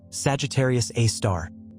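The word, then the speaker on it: Sagittarius A*: The super massive black hole at the center of our own Milky Way galaxy known as Sagittarius Asterisk, pronounced Sagittarius A star, contains 4.3 million times the mass of our sun within an event horizon stretching 12 million km across.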